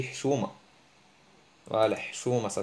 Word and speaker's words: حشومة: حشومة, on dit pas le حشومة, on dit حشومة.